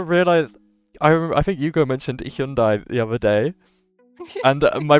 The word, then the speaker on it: Hyundai: Because to me, that car brand has always been pronounced Hyundai. But like recently, they did an ad campaign about it pronouncing it Hyundai, which is how it's actually pronounced in Korea.